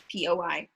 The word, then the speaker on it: POI: so the way that um poi this is what we like that's how you pronounce like poi poi um the way it